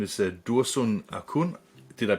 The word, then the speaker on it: Dursun Acun: today to meet a gentleman his name is dursun akun did i pronounce it correctly yes yes that was correct